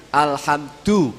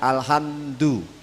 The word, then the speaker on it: Alhamdulillah: pernah ada yang mengingatkan pelafalan huruf Dal ya ketika do itu kok mesti tadi yang sebelumnya itu ada tambahannya Aduh begitu Jadi Alhamdulillah bukan Alhamdulillah ini perlu diperhatikan ya